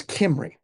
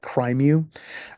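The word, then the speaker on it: Cymru: Or if you try to pronounce it in English, it's like Crimeu. But Kimry is a security company. They're Welsh, and hence the name and the way it's the way it's pronounced.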